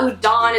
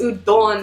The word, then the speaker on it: udon: it like this and it's not udon it's udon or like stuff like